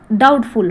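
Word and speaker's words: doubtful: है जो क्या हो डाउटफुल हो डी ओ यू बी टी एफ यू एल डाउटफुल यहां पे बी साइलेंट रहता है या क्या हो इक्वोकल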